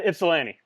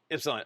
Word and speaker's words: Ypsilanti: So, first thing, how do I pronounce the name of the town? Uh we're in Ypsilanti. Ypsilanti.